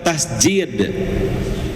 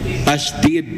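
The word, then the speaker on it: تشديد: Tasydid atau tasjid? Tasydid ya, Pak. Ya. Kalau tasjid nanti artinya sujud.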